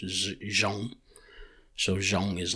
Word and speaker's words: zoo: In English it's pronounced zoo, but in our language it's pronounced zhong.